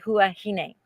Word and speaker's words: Huahine: used to always say huwahini and that's right because the french don't pronounce as h but that the locals pronounce h and they say huahine well interestingly enough so